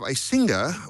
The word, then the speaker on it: Icinga: We have Icinga, which I've been mispronouncing for the last 7 shows, I now realize.